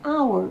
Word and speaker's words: our: On va du A, on va vers le O.